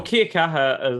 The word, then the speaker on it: kia kaha: pronounced wrong anyway right well kia kaha is uh that's the right person yeah that's the right pronunciation um essentially have you